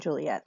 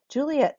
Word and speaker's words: Juliet: So sometimes she is Juliet, so 3 syllables. Sometimes she is Juliet, like we just did right now.